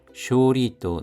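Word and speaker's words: 勝利: 여기서는 310의석을 넘겨서 초과해서 레키시데키나 역사적인 쇼리또 나리마시다. 쇼리 승리입니다. 쇼가 장음입니다. 쇼리또 나리마시다. 도나르 뭐뭐로 되다. 쇼리 승리 승부할 때는 쇼부가 되겠습니다.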